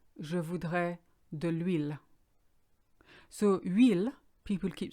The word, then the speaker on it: huile: Huile, because our H is silent, starts with U as far as we're concerned.